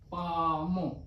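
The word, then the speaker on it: palm: म तो ये बना पामो पी ए एल एम अब आपको पता है कि पाम में एल जो है वो साइलेंट है तो इसका हमने कोई वोल या कंसोनेंट नहीं लिखा है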